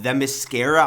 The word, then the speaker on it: Themyscira: Basically, this project takes place on Themyscira, I'm pretty sure that's how you say it,